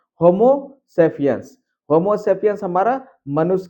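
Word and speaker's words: Homo sapiens: तो ये है आपका अंग्रेजी वर्ड का सही उच्चारण। होमोसेपियंस।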